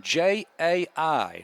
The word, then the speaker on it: Jai: So Jai Brazier in on the stop. Yes. Jai, now that's a name you don't see too often. J-A-I. So just forget the A. It's pronounced J with a long I.